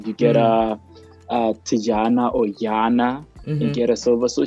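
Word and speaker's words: Tatjana: 2 beautiful ladies, names of Tajana. I don't know if that's how you pronounce it. Tajana. Maybe Guyana. Yeah, maybe get Tajana. Schoenmaker. It's Afrikaans. Definitely, it's Yana. There's no Tajana. With the T.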